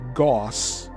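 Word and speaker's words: gauss: Actually, the magnetic field density at the surface of the Earth in Goss that's spelled G- A US SS is approximately 0.5 lines per centimeter squared.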